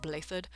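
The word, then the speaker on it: Blaiddyd: holy kingdom he said blathered it's welsh he said it i am dmitry alexandra blatant okay okay i just had to make sure i've been telling everybody i run into that's pronounced blathered and he did say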